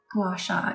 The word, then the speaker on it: gua sha: Gua sha. I feel like gua sha is right, and that seems to be the consensus.